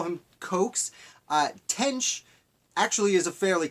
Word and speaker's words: Coxe: last name is spelled c-- o x e I believe that's pronounced coax it might be Cox but I'm gonna stick with coax if you've watched this